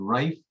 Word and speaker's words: Reiff: There's another company too called Rife, that's spelled REIFF.